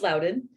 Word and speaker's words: Loudoun: about that a little bit yeah um it's pronounced Loudoun sorry um no worries so um so I